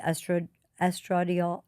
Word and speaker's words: estradiol: So she did prescribe for me a vaginal cream, the estradiol.